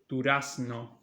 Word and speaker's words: durazno: And notice that I pronounce it durazno because here we also pronounce this as s, like I told you. I mean, if a Spaniard were to read this word, he would say durazno, but since they say melocotón and not durazno, I just pronounce it like that.